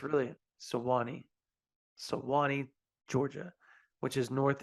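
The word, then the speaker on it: Suwanee: never say that Town's name sawani it's really sawani sawani Georgia which is north of Atlanta folks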